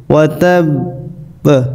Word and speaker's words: وتب: অনেকে এখানে পড়ে ওয়াতাব, এরকম বললে হবে না, যেহেতু বার উপরে তাসদিদ আছে এবং ওয়াকফ হয়েছে। ওয়াতাব এরকম উচ্চারণ হবে।